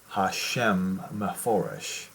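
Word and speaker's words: HaShem HaMephorash: the va von shem they they pronounce that the words incorrectly in hebrew it should be hashem foresh in that book and what this is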